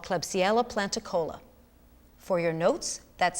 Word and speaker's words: Klebsiella planticola: major scale a genetically engineered soil bacteria called klebsiella planticola for your notes that's spelled k-l-e-b-s-i-e-l-a p-l-a-n-t-i-c-o-l-a the genetically altered bacterium was